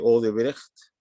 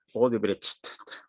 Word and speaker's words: Odebrecht: Bueno, el que sabe un poco de alemán sabe que los lexemas CH no se pronuncian ch, sino que se pronuncia como una J, ¿no es cierto? Así que es Odebrecht, ¿no?